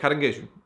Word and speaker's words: caranguejo: It's the type of crab that you eat, and that's how you say it, caranguejo.